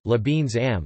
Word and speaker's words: Lebensraum: The German concept of Lebensraum, German pronunciation, Lebensraum, listen, living space, comprises policies and practices of settler colonialism which proliferated in Germany from the 1890s to the 1940s.